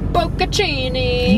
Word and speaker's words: bocconcini: And we bought bocconcini. Bocconcini. Do you pronounce the N or no? Bocconcini.